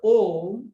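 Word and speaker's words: ॐ: seen sometime earlier also the word oh is made of three letters a ma or actually they together they form a single syllable o and it is said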